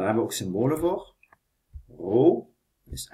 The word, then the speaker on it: rho: Rho is m gedeeld door v. Dit is een Griekse letter. Die spreek je uit als rho.